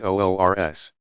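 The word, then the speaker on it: عرس: The occasions are sometimes referred to as the Saint's Wedding Day, URS, pronounced OORS.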